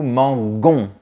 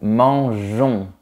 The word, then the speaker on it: mangeons: Tu vois, on doit ajouter la lettre E pour garder la prononciation J. On ne dit pas nous mangons, on dit nous mangeons.